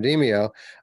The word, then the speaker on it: Demeo: I said it right this time, Demeo.